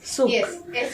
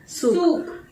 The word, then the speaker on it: Souk: इनका सूक करके है, सही प्रोनाउंसिएट करिए ना, सूक, SOUK, सूक। हाँ, दैट इज ऑन द